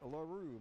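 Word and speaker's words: L'Heureux: i'm a bigger partner not not 2737 it's larue mark larue and larue's a french name l apostrophe h e u r e u x pronounced alaru mark m-a-r-c very french name and he will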